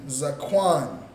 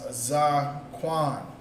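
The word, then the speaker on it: זקן: All right, so the word for beard is going to be Zaquan. Zaquan. All right, beard is pronounced Zaquan.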